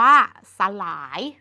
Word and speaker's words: สลาย: แรก คือ คำ ว่า สลาย สลาย เกิด จาก ส ล า ย สลาย ส ล า ย อ่าน ว่า สระ หลาย ลอง ดู ทุก คำ